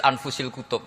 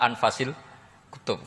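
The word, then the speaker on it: أنفس الكتب: Di sini ditulis anfusil kutub. Selalu saya baca anfasil kutub karena maknanya kitab terbaik. Kalau kitab terbaik bacanya bukan anfus tapi apa? Anfas.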